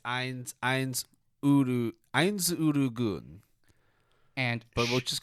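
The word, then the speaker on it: Ainz Ooal Gown: I can never pronounce it well. It's Eins Urugun.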